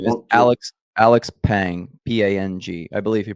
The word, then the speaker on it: Pang: Alex Pang, Pang. I believe he pronounces it Pong.